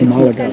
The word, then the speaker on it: Málaga: No, it's Malaga. It's Malaga. It's like the emphasis is on the A.